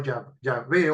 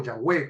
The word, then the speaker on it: Yahweh: Dice el pasaje, entonces Jehová Dios, aquí habla, fíjense que aquí no usa Elohim, sino Yahvé o Yahweh, como se pronuncia, también lo dicen algunos.